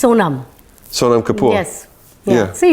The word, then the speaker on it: Sonam: Because I get nervous about pronouncing it wrong. It's Sonam.